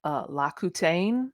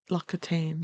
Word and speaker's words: L'Occitane: It's like La Coutaine. Is that how you say it? That French stuff. It's Yeah, like a uh-huh. um Loc it's like Loc these Lossa L'Occitane, yeah.